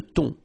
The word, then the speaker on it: thon: Remember, H here is not pronounced. Le thon.